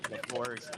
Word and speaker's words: LaForce: Okay, LaForce is how it's pronounced.